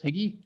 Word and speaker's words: HIGI: Did I pronounce that right, Chris? HIGI?